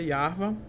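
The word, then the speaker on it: יהוה: tá vendo aí que essa é a pronúncia yva e ela deve ser transliterada como Y h v h não é Y H w h tá que a questão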